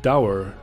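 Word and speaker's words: Dour: So it is pronounced Dower.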